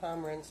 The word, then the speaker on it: Pomerantz: Are you aware of the court order given by this court, by this judge, Judge Sandra Pomerantz, It's that, actually Pomerantz, 2 syllables, accent on the first.